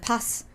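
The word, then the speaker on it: Paz: You should know how to pronounce I know how to pronounce your name. Like pass.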